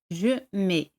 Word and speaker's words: mets: Yo pongo, je mets. T y C no se pronuncian. Je mets.